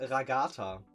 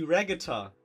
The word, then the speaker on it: Ragatha: Und sie hat erst Ragatha gesagt. Und dann haben wir ihr gesagt, nee, den bitte neu aufnehmen, der Name wird Englisch ausgesprochen. Und dann hat sie Ragatha gesagt.